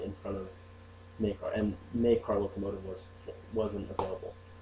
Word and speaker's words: Maykar: Okay, so I put a Y in front of Maykar, and TheMaykarLocomotive wasn't available. So I put a Y in front so people know how to pronounce it.